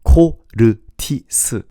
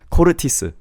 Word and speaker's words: CORTIS: Instead of saying CORTIS, you have to say CORTIS. CORTIS instead of CORTIS. You know, English tends to flow things much, and Korean, we tend to cut each syllable. So anything you speak in Korean, try to think of yourself as a robot, and instead of flowing, say CORTIS, 마틴, 제임스. Do you see where I'm coming from? Just cut every single syllable.